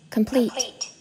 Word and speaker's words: complete: Complete. Đó, âm pleat sẽ là âm được nhấn mạnh. Âm cơm là âm chỉ lướt thôi.